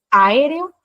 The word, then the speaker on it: aéreo: Acá tenemos aéreo, tiene 4 sílabas, aunque no parezca. AE son fuertes, se tienen que separar.